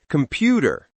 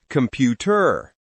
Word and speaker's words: computer: Yes, every English word has one part that's stronger, louder, and longer. That's called stress. For example, table, not table. Happy, not happy. Computer, not computer. If you stress the wrong syllable, people may not understand the word.